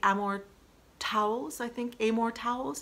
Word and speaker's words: Amor Towles: And my last book of 2019 was A Gentleman in Moscow by Amor Towles is how you pronounce his name.